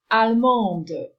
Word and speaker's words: allemande: You do not pronounce the last D in the masculine form, whereas in feminine, you say allemande. So this final D is now pronounced.